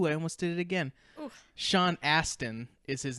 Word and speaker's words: Astin: did it again Sean Astin is his name and literally the entire episode I called him Shawn Austin I mean I think Austin's better than Astin but that's his name though oh okay well you